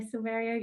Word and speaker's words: Silverio: He is Rfider's Global Head of Sales, and hopefully I got the name correctly pronounced there, Silverio.